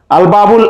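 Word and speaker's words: الباب: এরপর আল বাবুল আলিফ লামের লাম উচ্চারণ হচ্ছে, তাই এটি হচ্ছে হুরুফুল কামারিয়া।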